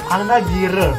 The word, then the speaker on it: Nagirw: Nagirw. That's how yeah, you say it. Yeah, that's how we pronounce it.